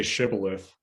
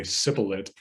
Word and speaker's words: shibboleth: become tha so they say say shibboleth the spies say sipulit so they know they're spies oh i see that's nice shibboleth it's a yeah a pronunciation that gives away your your local origin which you know we've